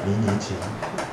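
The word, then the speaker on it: 迷你裙: 그 발음이 카페입니다. 카페, 커피, 카페. 그리고 미니스커트? 미니스커트 재밌겠습니다. 미니친입니다. 미니친.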